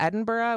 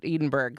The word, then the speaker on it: Edinburgh: time in Edinburgh and had to really practice not to call it Edenberg. That was like such a hard thing because then every time I went to spell it on something, of course, I want I had to say Edenberg in my head, right, to spell it out. Um, so I really had to practice to say Edinburgh while I was there.